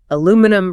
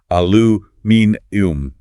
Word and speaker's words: aluminium: the great metallurgical debate, aluminum versus aluminium. Yes, that goes beyond a mere shift in vowel sounds. The British version literally inserts an entirely extra syllable into the word, aluminium.